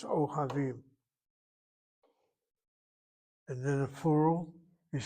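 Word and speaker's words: אוהבים: The He is the original letter. You cannot take a shvanah in its place, a replacement with a chataf. O havim. That explains why it's O havim.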